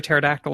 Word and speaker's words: pterodactyl: But why don't you ever hear a pterodactyl in the bathroom? Why not? Because the P is silent.